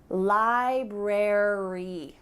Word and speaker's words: library: Well, in this case, ARY at the end of words is gonna indicate that in American English, we're gonna pronounce the full word. Library, secretary, military.